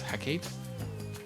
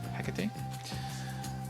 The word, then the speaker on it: Hecate: I always thought it was heate. That's how I just were just reading it in English. I was like, "Oh, that must that's what it is." So, I never knew it was Hecate.